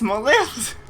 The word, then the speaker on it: Maleficent: So, that's how you say her, that's how you pronounce her name, what do you mean? I'm not joking. It's Maleficent.